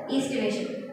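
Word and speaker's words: aestivation: So here A is silent, so estivation, we pronounce it as estivation.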